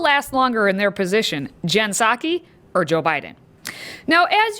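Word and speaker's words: Jen Psaki: In the Biden administration, the job of press secretary, or really, secretary, is Jensaki. Here's a tip to help you pronounce her name.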